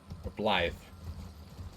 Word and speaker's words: Blythe: looks like here it's how you're pronouncing it with the th instead of a d yeah Blythe isn't there a way